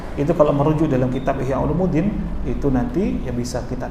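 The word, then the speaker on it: Ihya Ulumiddin: Ya, Masya Allah, banyak orang nyebutnya Ihya Ulumuddin. Padahal kalau secara ilmu nahwu harusnya bacanya Ihya Ulumuddin.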